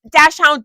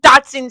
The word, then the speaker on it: Dachshund: There's different ways to pronounce it, okay? Dachshund, Dotson, same difference.